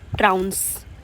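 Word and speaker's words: trounce: Next word is ट्राउंस। ट्राउंस। बाउंस की तरह आपको प्रोनाउंस करना है।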